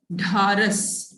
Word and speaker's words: ढारस: ढारस, दो चश्मी है, इसको प्रोनाउंस करेंगे, ठीक है?